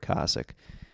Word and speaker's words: Kosick: I find out afterwards that Tony Hinchcliffe has been saying his name wrong for a long time. I talked to Rick on the phone, and I was like, which one is it? Because I heard Wee Man at one point say Kosick, and I've been saying it wrong the whole time. So it is Rick Kosick.